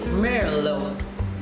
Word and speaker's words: Merlot: So in the beginning, I would have discussed the wine varietal Merlot, which is spelled M-E-R-L-O-T. Of course, we leave the T out and we say Merlot.